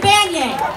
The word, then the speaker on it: Banyai: Florida who love democracy my name is Banyan says be Hey and why I spell it so you can vote to see it